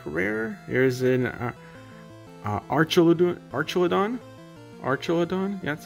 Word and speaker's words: Archelon: in the back rare here's an archel archelon archelon that's how you say it it's a pretty